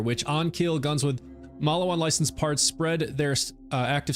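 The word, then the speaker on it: Maliwan: So the one I'm using right now is a Malawan. I think that's how you say it. Like, I've never heard anyone say this, so I'm saying it how it looks like it's written, Malawan, M-A-L-I-W-A-N, Malawan.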